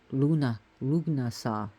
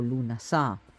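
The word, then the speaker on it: Lughnasadh: He was actually his sacred day, kid you not, Lugnasa, or Lunasa, as it's pronounced now, but Ugnasa, in more of an older pronunciation.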